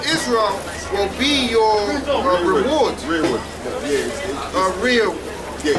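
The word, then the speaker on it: rereward: Yeah, it's Rearwood. Yeah, rearwood. It's just how they did it. So like reward, yeah, it's actually rearwood. When you look up the strongest one, it's rearwood. Rearwood. It's how they spell it.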